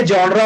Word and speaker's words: genre: तो इसको बहुत से लोग जेनर पढ़ते हैं. क्या पढ़ते हैं? जेनर. बट इसका जो रियल प्रोनाउंसिएशन है वो है जॉनरा.